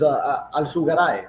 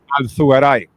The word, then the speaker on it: Alzugaray: The true pronunciation of your last name is Alzugaray, right? Alzugaray. Yeah. Right. With the Z, like the T. If you're gonna really say it, you know, como un gallego.